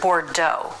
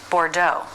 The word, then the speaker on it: Bordeaux: also in the word Bordeaux where we kind of use the French pronunciation also in Rue again a word borrowed from French a mixture of fat and flour to thicken sauces Pho Bordeaux Roux the letter x